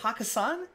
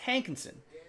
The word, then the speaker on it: Hankinson: I almost pronounce it like like that club in Las Vegas, John Samuelson. I was like, is that Jeff Hakkasan? No, it's Hankinson. Not like the club in Vegas.